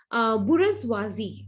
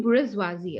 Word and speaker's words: bourgeoisie: Okay, bourgeoisie. Okay, now what is this bourgeoisie? It's a French word. Okay, we generally pronounce it as the bourgeois and all that. Okay, but it's actually bourgeoisie.